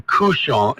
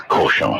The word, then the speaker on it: cochon: So why do so many of us say couchon instead of cochon? Well, it just depends on the dialect that you're trying. Is it bad pronunciation, or is it couchon in some places and cochon in others? It's cochon. It's cochon. It's cochon. It's just lazy English speakers.